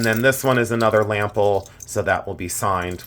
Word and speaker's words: Lampl: Walter lample um and it's spelled differently it's l a m p l lample uh pronounced lample and um let's see